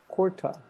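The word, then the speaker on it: kurta: in australia carda corda yeah it's kourta but in australia it's gorda do you have any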